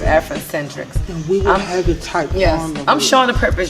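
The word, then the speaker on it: Afrindecentriqs: shauna devine it's african-centric spell a-f-r-i-n-d e-c-e-n-t-r-i-q-s i know that was a mouthful but it's it's just simply pronounced afrocentrics yes i'm showing the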